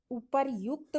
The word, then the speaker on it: उपर्युक्त: उपरोक्त, अपर्युक्त, उपर्युक्त और उपर्युक्त। तो जब हम शब्दों का उच्चारण करते हैं तो यहाँ हमारा सही शब्द पता चल जाता है, ऊपर युक्त बोलते हैं।